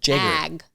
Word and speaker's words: Jagger: Well, Jen, Jagger. Jagger. Not Jaeger, like Jaeger bombs. Jagger. It's Jagger.